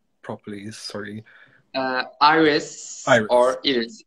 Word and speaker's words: İris: name properly sorry uh iris is in turkish iris in english pronunciation okay you can't tell